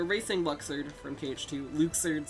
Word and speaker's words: Luxord: luxord from cage to luxord sorry that's how his name is pronounced now apparently killing orbs on ships